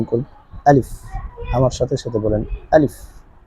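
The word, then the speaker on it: ألف: করে আমরা উচ্চারণ করি আলিফ আমার সাথে সাথে বলেন আলিফ আলিফ কোন টান হবে না অনেকে আলিফ বলে এটা আসলে ভুল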